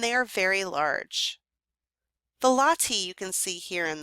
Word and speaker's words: latte: is supported by LTI looks like the way we spell the coffee drink latte but it's pronounced latti these latti are Stone supports with cushion-shaped capitals and they are very large the latti you can see here